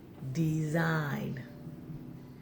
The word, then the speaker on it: design: boys and girls let's get ready the G is silent the sign design mm-hmm yes all right boys a girl that